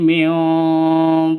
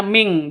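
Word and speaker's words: مِن: ayyatiya Yaumul la maraddalah nun mati bertemu dengan Q samar didengungkan siap-siap ke huruf qnya non matinya ditambah dengan ng jadi bacanya Ming bukan Min tapi Ming Q ba mati Q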